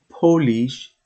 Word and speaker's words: polish: Point sometimes one specific word has two different pronunciation andan as an example this polish means the people from Poland so the pronunciation